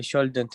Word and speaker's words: shouldn't: No. Shouldn't. ال لا تنطق. Silent. حرف ال هنا silent. Shouldn't.